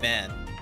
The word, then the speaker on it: Van: and the name's Van van at least the pronunciation for van is always going to be as what it says on the screen no apostrophes just straight up fan like it don't got